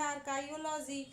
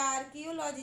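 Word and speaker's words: archaeology: विज्ञान एक शब्द है, आर्काइयोलॉजी। ठीक है, या आर्कियोलॉजी, जो भी आप पढ़ते हो, मैं तो स्पेलिंग की वजह से आर्काइयोलॉजी ही पढ़ती हूँ, बट आप आर्कियोलॉजी भी पढ़ सकते हैं, तो यहाँ आप हिस्ट्री नहीं कर सकते।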